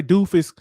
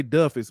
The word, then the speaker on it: Duffus: then um Jamila Duffus I want to say it's spelled it's d-u-f-f-u-s I don't want to say doofus because that's what it looked like but it's I'm gonna say Duff is but she from Kingston